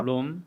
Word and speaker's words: Roam: 롬. 네.